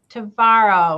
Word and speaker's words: Tvaroha: And without further ado, I would like to introduce my guest today, Christine Tvaroha, which rhymes with tomorrow, who is our Director of Senior Services here in Bloomfield Township.